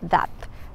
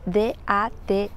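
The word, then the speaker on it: date: la primera palabra que vamos a ver es that that se escribe d a t e y a primera vista podríamos pensar que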